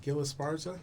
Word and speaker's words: Gil Esparza: a Navy veteran originally from San Antonio Texas Gil Esparza is that the way you pronounce it Gil Esparza that's correct all right fantastic Gil is actually